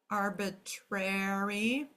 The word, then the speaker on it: arbitrary: Arbitrary. Again, ARY at the end is going to say airy. 2 syllables in that.